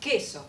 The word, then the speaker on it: queso: these two words or these three actually are pronounced queso for them the only possibility is this right